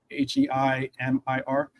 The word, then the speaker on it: Heimir: I didn't want to mispronounce it. That's why I was asking. Heimir.